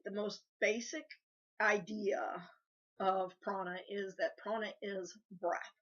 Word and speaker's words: Prana: This week's topic is Prana, or as I've also heard it pronounced, Prana.